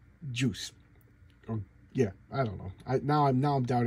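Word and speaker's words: Guice: I always say Jackson I get his name wrong but I I've been told on the good authority that it's pronounced juice oh yeah I don't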